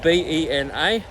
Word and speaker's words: Benalla: Now Benalla, spelled B-E-N-A, and the locals pronounce it Bena.